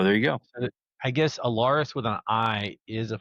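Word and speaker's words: Alarys: and is still pronounced Allaris.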